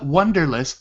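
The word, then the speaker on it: Wunderlist: yeah it's called Uh Wonder list but it's spelled Wu n d so like Wonder list yeah so it sounds kind of German the download for that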